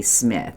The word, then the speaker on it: Smyth: He wants to go back to 1984, and he wants to hear the Patty Smyth, or around here we called her Patty Smyth, but some call her Patty Smith, and it's spelled S-M-Y-T-H.